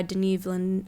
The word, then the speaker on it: Denis Villeneuve: And the first image from the new Dune, this will be directed by Denis Villeneuve. I can't pronounce his name. I'm sorry. Denis Villeneuve.